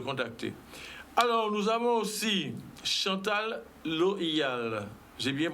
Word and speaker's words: Chantal Loial: Alors, nous avons aussi Chantal Loyal. J'ai bien prononcé?